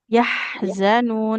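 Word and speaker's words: يحزنون: Nah, jangan yah, tapi yahzanun. Dia ya-nya jangan panjang ya.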